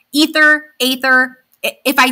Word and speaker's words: Aether: Prince ather himself and I know it's said ether but I personally say ather a lot and that's the way it's spelled like in English but like ether ather if I say